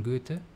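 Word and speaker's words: Goethe: German poet and scientist to apply German pronunciation Johann Wolfgang van Gutta put it knowing is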